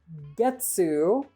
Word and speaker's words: getsu: There's getsu with a G, which is month or Monday, like gets Monday. But if you accidentally say ketsu instead of getsu, you're saying ass.